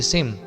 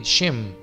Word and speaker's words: Shem: La palabra antisemita consta de dos partes que son anti, que significa contrario, opuesto, semita, descendiente de Sem, o pronunciado más correctamente de Shem.